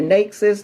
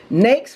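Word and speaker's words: NAICS: to remember nate's codes because we hear nexus knacks some of everything next rhyme with bakes or cakes so you want to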